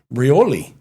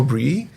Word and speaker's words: Brouilly: I thought it was Brouilly. Yeah. No, Brouilly.